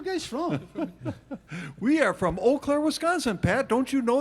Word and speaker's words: Eau Claire: from we are from eau claire wisconsin pat don't you know that is your memories pronounced when i saw it written i thought it was you claire claire well our next